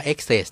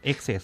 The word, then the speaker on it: excess: ของ excess นะ ครับ อ่าน ว่า excess นะ ครับ exes ครับ แล้ว ก็ ดัก นะ